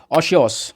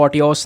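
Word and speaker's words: otiose: आज का word of द डे है ओशियोस, ठीक है। इसको ऑटियोस नहीं, ओशियोस करके प्रोनाउंस किया जाएगा।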